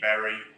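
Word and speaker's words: Bury: It's just SVG Berry on YouTube. If you just search SVG Berry, you'll find it. Berry is spelled B-U-R-Y for anyone who's not local.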